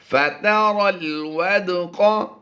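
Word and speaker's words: فَتَرَى الْوَدْقَ: मुअमिनीन अल्लाहुल्लज़ी युरसिलुर रियाह फतुसीरु सहाबन फयबसुतुहु फिस्समाई कैफ यशाउ वयजअलुहु किसफन फतरल रा को लाम से मिलाएंगे, या और अलिफ दोनों साइलेंट होंगे। फतरल वदक़ यख़रुजु मिन खिलालिही फ़इज़ा।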